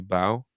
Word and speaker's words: bow: When you meet the queen, you bow, which again must rhyme with how.